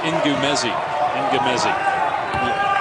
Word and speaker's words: Ngumezi: His last name is pronounced Ngumezi.